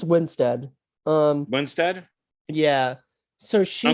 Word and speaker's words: Winstead: oh yeah mario weinsted yes winstead i always thought it was weinstead is that how it's